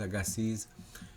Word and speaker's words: Louis Agassiz: time and I never hear these words correctly pronounced. Louis Agassiz, I'm going to go with Agassiz, took disparate facts that led inexorably to an